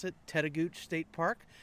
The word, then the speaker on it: Tettegouche: park we're now back at camp we're at teta gooch state park and i did check with the ranger and that's how you pronounce it teta gooch state park it's about halfway up the north